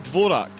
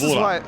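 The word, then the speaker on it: Dvořák: This Dvorak. is why... Dvorak. Not really silent, actually, so no. it's kind of like Zuka, then, where you slightly pronounce the D before his name, but not really.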